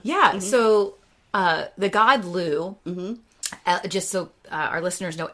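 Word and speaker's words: Lugh: you want to yeah so uh the god Lou just so our listeners know l u g is how it's spelled um and then also sometimes uh llamas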